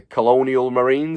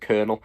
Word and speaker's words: Colonial Marines: pronounce it, is the Colonial Marines. Is that how I say it? Someone corrected me last time. I said Colonel.